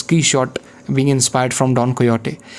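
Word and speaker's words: Quichotte: written key short novel which is pronounced as key shot being inspired from don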